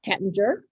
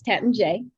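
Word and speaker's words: Taittinger: bit of confusion is how to pronounce the family name is it tettinger or is it tetenje it's tetan j um the house was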